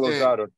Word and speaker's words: Lozada: And Rodrigo Lozada. I say that right, Lozada? Rodrigo, you there, right? Yeah, I'm here. Yeah, you said it right. Yeah, Rodrigo Lozada.